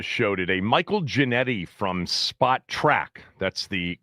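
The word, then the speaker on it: Spotrac: Michael Janetti from Spot Track, that's the correct pronunciation of the salary cap and player contract site.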